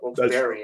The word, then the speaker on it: Wilkes-Barre: in the AHL, or Wilkes-Barre, as it's apparently pronounced like that.